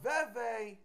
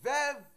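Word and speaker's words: vèvè: sometimes you can say veve you know and sometimes you can use it as vev you know whatsoever you know depends on different parts of Haiti you know different people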